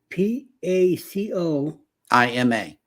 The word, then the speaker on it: Pacoima: I'm not sure if the O or if the I is silent on this one. Is P-A-C-O-I-M-A. P-A-C-O. I-M-A. Pacoima. Pacoma? Okay. Pacoima, yeah.